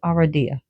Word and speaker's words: Aradia: I pronounce it Aradia.